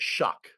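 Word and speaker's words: Shough: So he pronounces it Shuck, which is annoying.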